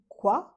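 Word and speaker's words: Zhang Linghe: And of course, we know this one stars Zhang Li Kwa. If I'm pronouncing that correctly, I usually say he because it's He, but apparently it's Kwa, right?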